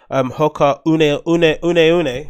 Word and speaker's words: Hoka One One: Hoka Une, right? As they pronounce them, One.